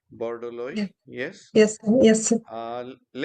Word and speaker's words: Borodoli: I hope I pronounce it correctly. Yeah. Borodoli, yes.